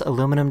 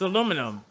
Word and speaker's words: aluminum: I never knew this, but I guess North Americans and Europeans spell and pronounce aluminum differently. You say aluminium, but you're adding an I.